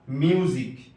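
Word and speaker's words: music: آخر میں آیا ہے۔ اسی طرح میوزک، میوزک۔ یہاں بھی سی اخیر میں آیا ہے۔ نمبر 5، اگر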